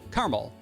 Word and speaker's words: caramel: In Australia, we say caramel, like without the vowel at the end.